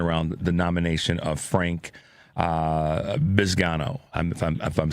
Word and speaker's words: Bisignano: and the conversation around the nomination of Frank Bisignano, if I'm saying it right, Bisignano, right?